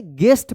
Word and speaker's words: guest: इस और यू के बाद कोई वोवेल आता है तब जो है ना, इसका जी के बाद वाला जो यू है उसका कोई उच्चारण नहीं होगा।